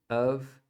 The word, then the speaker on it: of: cake essa palavra aqui o of ela é pronunciada com um som de v mesmo tá como se fosse um a aqui fechado e aqui o v tá esse F tem som de v it's a p